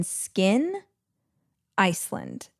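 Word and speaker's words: Skyn Iceland: And I don't think there is a better patch than Skin Iceland. That is spelled S K Y N.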